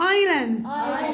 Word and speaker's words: island: نايف سكينه الكي سايلنت ايلاند جزيره الاي الاس سايلنت كسل التي سايلنت ساين الجي سايلنت.